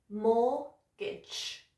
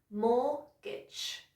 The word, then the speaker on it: mortgage: Now, the T is silent and it's not gauge, it's gidge. So after me, 2 syllables, mortgage. Okay, good. Again, mortgage.